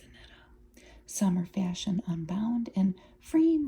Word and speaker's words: Anitta: I want to say Anita because of my Midwestern roots, but I think it's Anitta.